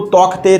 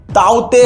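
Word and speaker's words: Tauktae: सब लोग even news वाले इसको तौकते तौकते कह रहे हैं, लेकिन इसका प्रोनाउंसिएशन एक्चुअली तौकते नहीं है, ताउते है।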